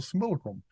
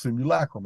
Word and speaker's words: simulacrum: the construct itself which I call the similar Chrome which is properly pronounced simulacrum I just can't I